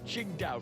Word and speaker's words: Qingdao: Philip Atkinson, the Tang Cha, I've forgotten how to pronounce that. Qingdao.